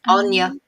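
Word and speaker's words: Áine: What about, how did you pronounce it? Anwi? Anya. Anya. Aine. Anya.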